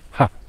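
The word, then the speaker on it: 葉: très simple et oui c'est ha ha donc bien prononcer le H ha et puis la branche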